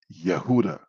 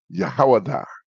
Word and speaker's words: Yehuda: It's Yehuda, Yahudim. And some of the brothers pronounce it as Yahawada.